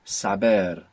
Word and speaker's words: saber: Saber is spelled with a B. But in English, we are saying savvy with a V. So we're seeing even that connection between the sounds of V and B, crossing between English and Spanish.